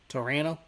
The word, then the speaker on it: Toronto: Torano. Toronto people. You don't pronounce the second T.